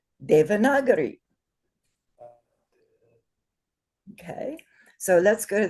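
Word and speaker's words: Devanagari: you say it properly because the a as we know the day that that a is long two beats. The second vowel is uh short no markers.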